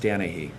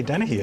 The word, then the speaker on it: Danahy: It's pronounced Danahy, like Dan. You're saying Oh, this. I was wrong. I say Dennehy, and that's wrong. It's Danahy.